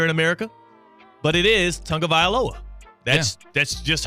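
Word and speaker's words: Tagovailoa: mispronouncing it here in America but it is Tong of V aloa that's that's just how you pronounce it now I get that the English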